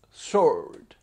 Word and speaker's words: sword: che pronuncio skyward sword ho scoperto che si pronuncia sword short pac